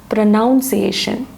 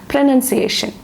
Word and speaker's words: pronunciation: Actually, the word pronunciation is sometimes it is pronounced as pronunciation. It is incorrect. Actually, it is pronunciation.